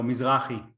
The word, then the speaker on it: Mizrahi: So Mizrahi. Mizrahi. It's hard, yeah. I'm very bad pronouncing other languages.